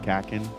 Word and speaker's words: Kakin: the country of of kakin I think I guess that's how you pronounce it kakin yeah correct Us in the comments